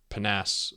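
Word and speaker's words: PNAS: on on it's uh panas Nexus I think is how you pronounce prounce it p n a s and then Nexus so according to one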